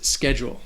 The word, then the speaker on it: schedule: The next word is schedule. So this word has 2 syllables, and it can be confusing because of that CH. It doesn't have a ch sound. It has a k sound, like a K sound.